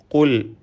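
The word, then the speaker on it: قُلْ: ഖുൽ, ഈ പദത്തിലെ ഖാഫ് തഫ്ഖീം നൽകി പെരുപ്പിച്ച് സ്വരഭാരത്തോടെ ഉച്ചരിക്കണം.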